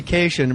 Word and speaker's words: Kashian: Jackie Kashian rhymes with vacation.